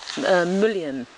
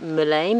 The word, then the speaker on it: mullein: Here's some, I pronounce it mullein, but I think maybe other people call it mullein.